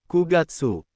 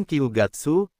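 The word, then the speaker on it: 九月: September bukan Kiugatsu tapi kugatsu.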